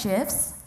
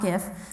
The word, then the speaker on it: GIF: It is pronounced GIF, not GIF. So if nothing else, tonight you learned the correct way to say that. But it's GIFs.